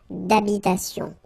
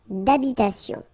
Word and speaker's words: d'habitation: Remember, H doesn't exist in French, well, in most of the cases, so it does mean that you don't pronounce it, alright, so d'habitation. Une tour d'habitation.